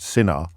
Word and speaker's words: Sinha: his surname is Sinha, so spelled Sinha, but pronounced Sinha, and his autobiography is called I've messed it up after that big build-up. Which Matthew Wright's distracting me. The autobiography is called One Sinha Lifetime.